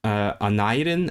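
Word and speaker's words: Aneurin: So, I suppose because it's a Welsh name. It's in my accent of Welsh that would be Anadin, but I suppose where he's from, which is Tredegar, right? That would have been pronounced Anadin, and that's why his nickname was Nye.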